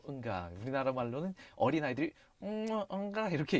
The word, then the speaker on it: UNGA: 참고로 UNGA를 따로따로 발음하지 않고 읽어버리면 응가가 되는데요. 응가.